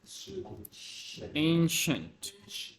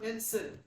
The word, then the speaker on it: ancient: uh sounds like sh ancient not anent no no anient like this anent ancient you don't need to pronounce the I so ancient something like